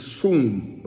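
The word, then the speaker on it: שׂוּם: And this word comes from another Hebrew word, swoon. S in English, you could spell it S-U-W-N. But the word is soon, okay? Soon, or seen, S-I-Y-M.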